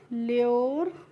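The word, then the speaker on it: lure: और एल यू आर ई को पढ़ते हैं ल्योर। और डी यू आर ई को क्या पढ़ेंगे? ड्योर। इस तरीके से हम इनका प्रोनाउंसिएशन इर करके करेंगे।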